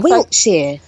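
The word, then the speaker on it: Wiltshire: so like wilkshire technically it's spell with a t but we just we don't really enunciate it we just sort of um tease it wait the t is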